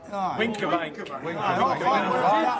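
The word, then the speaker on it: Wincobank: We went to the top of, how do you pronounce it, Winskabank Hill? Winkerbank.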